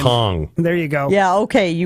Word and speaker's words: Kong: Conk? It's a G. It's a G at the end. Kong.